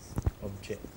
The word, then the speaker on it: object: It is only stress that makes them a verb. Action word. Homographically, as per spelling part, same. Yes, but stress makes them a noun. And stress a makes them an verb. It makes them an action word or verb.